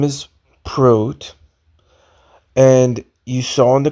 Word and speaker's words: Prot: The movie's name is K-Pax, and his name is spelled P-R-O-T.